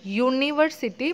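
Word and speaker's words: university: जैसे कि मैंने बोला कि हम यूनिवर्सिटी प्रोनाउंस करते हैं तो उसका साउंड कैसा आता है?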